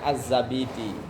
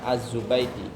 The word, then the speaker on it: Az-Zabidi: Kalau kiai-kiai ulama-ulama bacanya Az-Zabidi, bukan Az-Zubaidi.